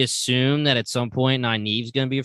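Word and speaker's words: Nynaeve: that twist though tonight how do you pronounce it i say my my audiobook says naive naive okay i really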